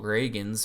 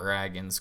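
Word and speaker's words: Ragans: in 2021 um Cole Reagan's which I learned that's how you say it not dragons Cole Reagan's um Antoine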